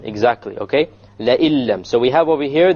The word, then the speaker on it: لَئِن لَّمْ: لَئِلَّمْ. Exactly, okay? لَئِلَّمْ. So we have over here the noon sakina followed by a lam. And when we have this, then we drop out the noon and we pronounce it